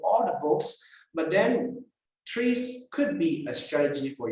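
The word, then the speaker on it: TRIZ: inventive problem solving and three-strike itself is being pronounced as trees trees right and all Innovation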